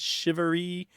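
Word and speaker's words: charivari: that tradition what do you know about it shivery just let's just get that word make sure everyone hears that it's shivery how would you spell that I've seen it c h a r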